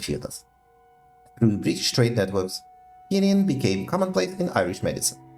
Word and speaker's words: quinine: Quinine pronunciation.